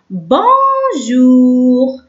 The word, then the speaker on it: bonjour: bonjour. ب او ان ننطقه اون. جي او يو ننطقه او. bonjour.